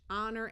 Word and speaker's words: honor: this o willah color here is a silent h honor and favor in the